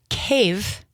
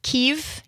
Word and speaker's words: Kyiv: And you are the founder and the CEO of Ukrainian Patriot, which is a nonprofit based in Cave, not Kev, not Kiev, but cave.